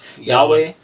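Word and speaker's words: Yhwach: Like he fought how do you say that nigga name? Yahweh. Like God, okay, yeah. So he fought Yahweh, and that nigga, Yahweh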